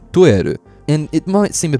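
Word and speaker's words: トイレ: A lot of words in Japanese were borrowed from English, but they've been pronounced Japanese-like. So toilet becomes toeru.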